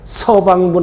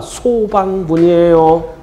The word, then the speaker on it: 소방분: 발음 잘해야 돼요. 서방분 하면 큰일 나. 소방분이에요.